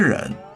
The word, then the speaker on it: 人: 单人旁，发音也是人。